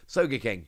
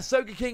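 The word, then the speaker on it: Sogeking: I believe that's how it's pronounced. At least look at the Japanese. Soga King.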